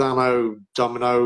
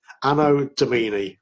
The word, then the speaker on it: Anno Domini: But yeah, he teamed up with Anno Domino or Domini. Anno Domini, that's how it's pronounced.